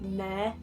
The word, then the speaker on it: Nair: Mine is that Nair, which is spelled like hair but with an N instead of an H.